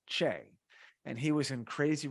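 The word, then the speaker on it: Chieng: and then Ronnie Ronnie Chang um or no sorry it's pronounced as Ronnie CH and he was in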